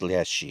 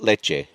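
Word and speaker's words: леший: And it's pronounced Leshy. That's the way to say it. Is it Yes, milk related Leshy. at all? You said it. No, not leche.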